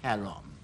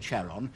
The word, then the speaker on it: Charon: And I do realize that the name really should be pronounced Charon, but that causes confusion with another body, as I'll explain later, so I'm going to call it Charon, and pronunciation experts, please don't write to me about it.